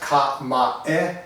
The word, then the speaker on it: kamae: It's pronounced Kamae and not Kamae. There is no E sound in the word.